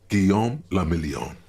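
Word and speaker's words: Guillaume Le Million: Guillaume Lamillion. Yeah. What he said. If it doesn't rhyme, you're not pronouncing it right.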